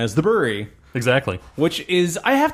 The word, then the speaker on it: The Bruery: Brewery, but not, but spelt that way, but still pronounce the Brewery.